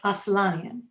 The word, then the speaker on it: Aslanian: Thompson Robert Robertson Jack Jackson and it's Dr aslanyan correct okay Dr aslani and I will need